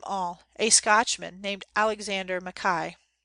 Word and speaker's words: Mackay: a Scotchman named alexander makai he pronounced his name Mekhi he wrote from Germany